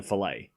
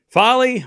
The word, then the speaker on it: Falei: Did we figure out how to say her name? Falei. We're going Falei.